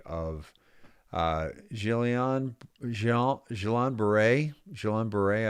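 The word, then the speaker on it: Guillain-Barré: people who get Johnson and Johnson um the jab are at elevated risk of uh gileon jalan beret jalon beret I believe is the way you pronounce this um and it's basically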